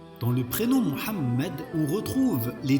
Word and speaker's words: Muhammad: Et le tout se dit Muhammad.